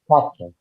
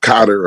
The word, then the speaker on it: Qatar: Qatar. That's how you pronounce it. Yeah, Cotter or Cotter.